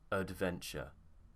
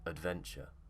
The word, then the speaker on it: adventure: schwa sound there and at the beginning this a is not in the stressed syllable so in some situations